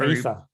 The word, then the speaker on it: Aether: I think it's pronounced Ether. Ether, sorry.